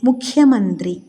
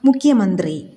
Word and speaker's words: മുഖ്യമന്ത്രി: അതുപോലെ ചില വാക്കുകളിൽ ഖായുടെ ഉച്ചാരണം കായുടെ ഇരട്ടിപ്പ് ആയ ക യിലേക്ക് പോകുന്നത് ശ്രദ്ധിച്ചിട്ടുണ്ടോ? ഇവിടെ മുഖ്യമന്ത്രി എന്നതിന് പകരം മുഖ്യമന്ത്രി, മുഖ്യമായ എന്നും ദുഃഖം എന്നതിന് പകരം ദുഃഖം എന്നും ഉച്ചാരണ പിശകുകൾ വരാതിരിക്കാൻ ശ്രദ്ധിക്കുമല്ലോ.